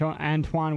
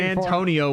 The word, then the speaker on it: Antoine: Antoine Winfield Jr. You said it right this I know, time. I'm proud of you. It wasn't Antonio Winfield.